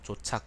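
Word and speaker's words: 晁錯: 천자는 그 때문에 조착, 그냥 조조라고 읽기도 하고 조착이라고 읽기도 하는데, 조착을 주살하고 원왕을 파견하여 통보했지만 반란군은 멈추지 않고 서쪽으로 양나라를 포기하였다.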